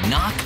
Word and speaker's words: knock: in kite and a silent k is also the first letter in knock over if you don't look